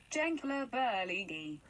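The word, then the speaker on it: Gençlerbirliği: And if you want to know how to pronounce our Turkish team, it is Genclerbirligi. So that's how you pronounce it.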